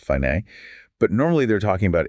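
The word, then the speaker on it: Φ: Which is represented by the symbol I, pronounced fine.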